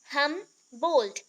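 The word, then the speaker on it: Humboldt: हमबोल्ट, D pronounce नहीं होगा, हमबोल्ट होगा, ठीक है, हमबोल्ट।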